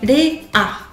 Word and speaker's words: Léa: Juste que ce sera pas forcément un L pur. Parce que comme je vous disais, la lilulelo, le R japonais, c'est un peu en proximité avec le D.